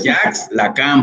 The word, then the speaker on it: Jacques Lacan: No le digan Jacques Lacan, esa pronunciación no existe. Jacques Lacan, por favor.